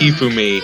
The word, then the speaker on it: Hifumi: You just have to do all of the syllables in the same tone. So it's Hifumi, not Hifumi. You don't put the emphasis on any of them. It's Hifumi, Makoto, etc. It's not Hifumi, Makoto. It's you don't emphasize any of the syllables because that's not the way Japanese works.